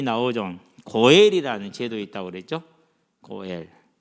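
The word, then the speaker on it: גואל: 고엘. 뭐 굳이 여러분은 알 필요는 없는데 이렇게 됐어요. 그래서 이게 고예요. 이거 엘이고, 요거는 묵음이고, 고엘.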